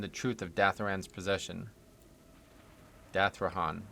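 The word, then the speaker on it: Dathrohan: Dathrahan. Dathrahan is how you say that.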